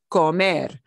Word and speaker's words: comer: uh er verbs comer comer and you'll notice when we pronounce the infinitive we put more punch or more stress on that last solo it's not comer